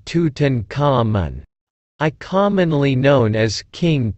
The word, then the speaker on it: Tutankhamun: i am tutan common egyptological pronunciation tutankhamun i commonly known as